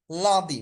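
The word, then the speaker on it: lundi: হচ্ছে সোমবার মানে লাদি লাদি মানে হচ্ছে সোমবার এখানে একটু লা একটু ভিতরের দিকে যাবে লাদি মানে হচ্ছে সোমবার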